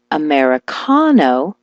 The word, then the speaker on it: Americano: When I told her to switch the stress to the ka, like Americano, she was never misunderstood again.